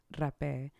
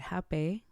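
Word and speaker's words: rapé: and meditate or pray, I go to rape. A lot of people call it hape. Rape is from the Amazons. And so I'm kind of honoring just more like how they say it.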